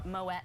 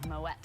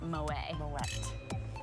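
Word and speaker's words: Moët: called an umlaut moet the name is originally Flemish not French so which is a hard T at the end moet not mo a West so we like to say no way mo way it's moet very nice very different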